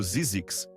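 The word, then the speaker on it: Zzyzx: Então ele inventou o nome ZX, pronunciado Zizix.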